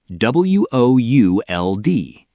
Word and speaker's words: would: The second word is would, w o u l d. Would. Okay, the L is silent, right? Like in could?